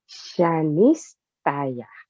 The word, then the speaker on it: Shanistaya: Shanistaya. Shanistaya. Welcome. Thank you. Do you want me to spell it? Cheese is like she as Shanistaya.